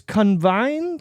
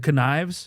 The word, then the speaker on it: connives: Convine. Convine. How? How do you say that word? Connives. Connives. Yeah, like conniving.